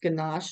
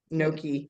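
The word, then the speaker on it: gnocchi: the creamy wild rice ganache soup I think I said that wrong no no I always say it wrong I always say ganach but Noki yeah said I was like it's not ganach I'm like it's N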